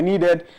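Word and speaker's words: Kneeded: my name my my needed is actually spelled with a K it's not the noral needed so k n right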